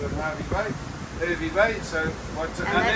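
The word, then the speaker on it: Hervey Bay: is a suburb of Harvey Bay which is not hervy Bay and that's where Rob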